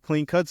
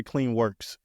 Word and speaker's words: Clean Cuts: me about Clean Cuts is it clean cuts or clean Works Clean Cuts Clean Cuts yes so yeah Clean Cuts